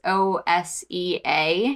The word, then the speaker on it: OSEA: It's Osea.